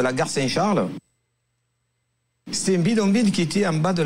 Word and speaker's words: bidonville: So, c'est un bidonville. So once again, probably the pronunciation will be slightly different here. Hein? Bidonville, because I go for the nasal here.